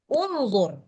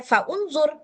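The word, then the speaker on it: انظر: Tapi kalau seandainya kita mau mulai dari sini, maka bacanya unzur. Nah, gitu. Kalau disambung, nggak boleh dibaca faunzur.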